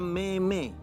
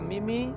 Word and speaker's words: meme: gambar-gambar lucu yang kadang-kadang disebutnya Meme padahal bukan itu cara membacanya yang betul bacaan yang betul itu apakah a Mimi atau b mim Apakah a Mimi atau mim ya saya